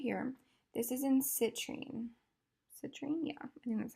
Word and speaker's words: citrine: this middle color right here this is in citrine citrine yeah yeah that's how you say it